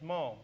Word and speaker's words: Ma'am: You address Your Majesty as Ma'am, pronounced short, A as in jam.